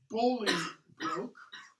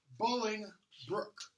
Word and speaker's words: Bolingbroke: Hereford his name is Pingree looks like it's pronounced bully Luke but it's pronounced bullying rook Bolingbroke so midway through the play bully Brooke shows